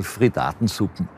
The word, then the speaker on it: Frittatensuppe: Wie spricht man den richtig aus? Ja, also ich würde es mir in Österreich nicht sagen, aber immer so Frittatensuppen. Oder überhaupt nur die Frittaten.